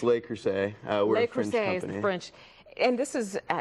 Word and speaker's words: Le Creuset: and he's here for L lack cret now see because he said it wrong now I can't say it right it's lay crus we're French and this